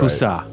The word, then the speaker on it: Cussac: Yeah, the C is silent at the end. The rest is right. Cussac.